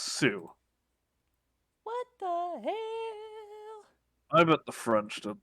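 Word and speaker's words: Sault: it's too Saint Marie s-a-u-l-t pronounced Sue I bet the French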